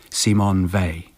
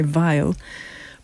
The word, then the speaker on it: Simone Weil: about your great life C Mon Vey C Mon vier well it's lovely to know how correctly to pronounce her because I used to be unsure when I mentioned her name because people didn't respond so I thought perhaps it was pronounced in the German way vile but that didn't produce